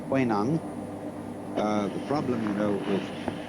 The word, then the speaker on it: Huineng: But this is simply the Cantonese way of pronouncing the same characters, and this is the Mandarin way.